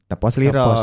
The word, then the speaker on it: Tepa Selira: Nah, Tepas Lira bacanya Tepos Liro.